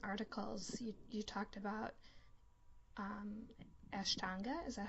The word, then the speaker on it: Ashtanga: of your recent articles you talked about um Ashtanga is that how you pronounce it yeah so and how um like